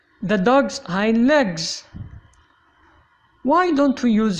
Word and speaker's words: Hind: The vowel in the Arabic name Hind is often pronounced I before ND, like in find, kind, mind, blind, but wind is an exception.